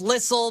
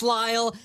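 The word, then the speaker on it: Lisle: It's spelled Listle, but it's pronounced Lyall. Had to explain everything to her. She goes, "You guys must be really popular in Lyall, Illinois."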